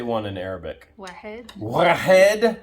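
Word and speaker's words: واحد: Wahed.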